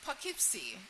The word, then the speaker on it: Poughkeepsie: Uh it's Poughkeepsie. And um it was hard to pronounce.